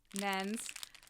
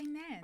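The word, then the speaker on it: Nairn's: Nens. Did you say nairns? I do, because that's how it's pronounced.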